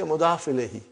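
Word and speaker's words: مضاف إليه: Mudafun ilayhi. But we say mudaf ilayhi.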